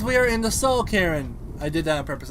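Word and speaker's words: Cairn: we're in the soul karen churn it's pronounced with it with a c-a-i-r-n and right now i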